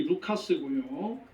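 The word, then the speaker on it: Λουκᾶς: 이 누가라고 하는 이름은 헬라 말로 정확한 발음이 루카스고요.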